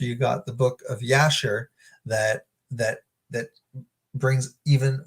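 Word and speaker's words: Jasher: from the book of yasher okay Jay it's it's with a J but it's pronounced J is pronounced like a y um so looking at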